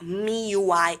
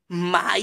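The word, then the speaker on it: MIUI: of our shmellow and runs Xiaomi me you I ate a lot of people have to actually let me spell it out for you it's M I you I ok no space in the middle fully like you know joined together a lot of people actually call it my UI but it's you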